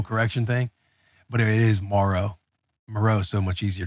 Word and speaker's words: Moreau: How do you say it? Moreau or Moreau? Yeah. Foster Moreau. Moreau. I looked up my old video from last year saying like it's Morrow.